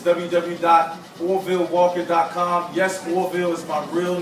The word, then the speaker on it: Orville: Yes, Orville is my real name and my stage name. And it's spelled just like Orville Redenbacher. V-I-L-L-E. So I know it's doing Orville. Orville Redenbacher? Yeah, just like that.